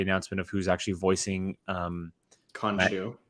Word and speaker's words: Khonshu: I don't know if you guys saw it today, but we also got the announcement of who's actually voicing Khonshu. Khonshu, thank you.